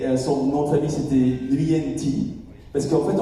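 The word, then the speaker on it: Nguyễn: Et son nom de famille c'était Nguyen Thi. Parce qu'en fait, on prononce pas le G en vietnamien, on dit Nguyen. Donc on dit pas Nguyen, on dit Nguyen Thi.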